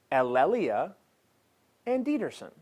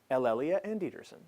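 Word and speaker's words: Elle Anderson: The name, as it is meant to be pronounced, is Elelia Anderson. Elelia Anderson. Elelia Anderson.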